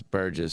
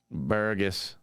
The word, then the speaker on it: Burgess: snaps epic photos last name's Burgess so obviously that's yeah people just butchered it all the time and burgus just what's up burger and you one more